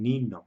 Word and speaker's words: niño: palabra niño no es como la de un niño no niño niña españa o nuestro idioma el